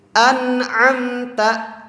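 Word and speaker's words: أَنْعَمْتَ: An'amta, maka dibacanya itu tidak ditahan tapi dilangsungkan. Juga nunnya itu jelas.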